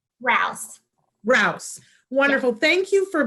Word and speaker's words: Rouse: Kelly how do you say your last name raus raus wonderful thank you for being here with